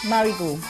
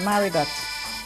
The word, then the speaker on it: Marigot: The French called it Petite Mariggo and it is now simply called Maragot with an English pronunciation of the T at the end.